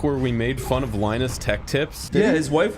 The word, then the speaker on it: Linus: This whole 5-minute conversation happened because Linus rhymes with vaginas.